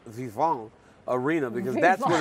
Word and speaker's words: Vivint: I'm intimidated by the fact that you don't know how to say Vivant Arena, because that's what it's called. It's the Vivant Arena, not the Vivant, whatever you said.